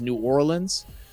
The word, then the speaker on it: New Orleans: Like our main like city in Louisiana is New Orleans, Neworleans. When you talk about the city, we pronounce it New Orleans, but if you talk about the parish, it's Orleans. So like we change up how everything is spoken about.